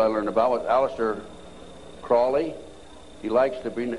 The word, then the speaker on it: Crowley: learned about with aleister crowley he likes to bring have his name pronounced crowley to rhyme with holy and the satanists today